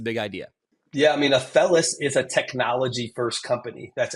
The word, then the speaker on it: Athelas: So Athelas, I'm probably going to say it wrong because... No, that's right. All right, I got it. That's perfect. Most people say it wrong, yeah.